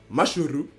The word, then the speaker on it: Mashle: Je sais qu'il y a un SH, mais ça se prononce comme ça. En japonais, ça se prononce Mashuru. Et en français, ça se prononce Mal.